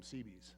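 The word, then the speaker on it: Seabees: If you don't know what a CB is, the the the two letters construction battalion CB um they just eventually called them CBS. And then they would sell it at spell it s e a b e s cbs.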